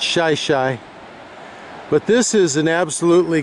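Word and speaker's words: Shi Shi Beach: Shih Tzu Beach is spelled S-H-I-S-H-I, so one might think that it was pronounced Shishi. But if you pronounce it that way, the locals will all know that you're not from around here. It's Shih Tzu.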